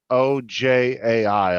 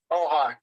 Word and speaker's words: Ojai: Okay, so with the actual location of it, the town name is OJAI. I'm not sure how you pronounce Oh, that. okay. Oh, hi.